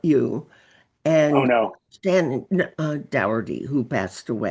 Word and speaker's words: Doherty: I'm going to bring up something very poignant I read about you Oh and no, Stan Dougherty, who passed away. Doherty. Yeah, Okay. yeah, Was I pronouncing it wrong?